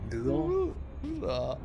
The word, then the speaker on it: Hvidovre: That was Hvidovre. Yeah, that thing where it has like lots of Scoping complete. it has lots of letters, but they're not pronounced. That are not pronounced exactly. Hvidovre.